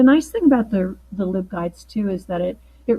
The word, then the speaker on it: LibGuides: came on she kept referring to them as live guides because library live guides but I had learned